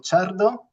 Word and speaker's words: Ciardo: Como bien habéis dicho, soy Chardo, muy bien pronunciado, enhorabuena.